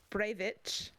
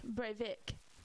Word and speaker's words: Breivik: And then the second one, my notes is another what the fuck pronunciation, and it Breivik, Breivik, Breivik. Could be Breivich, but I doubt it. No, it's Vick, Breivik, like Vic.